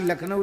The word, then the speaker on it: लखनऊ: ब्रजवासी लखनऊ नहीं बोलते, नखलऊ बोलते हैं।